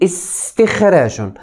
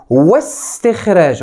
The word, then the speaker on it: استخراج: همزة الوصل هي الهمزة التي تنطق، كيف ذلك؟ أقول استخراج، نطقتها في الكلام أقول استخراج، لكن ولا تنطق عند وصل الكلام أو عند وصله، أقول واستخراج، لم أنطقها فاستخراج.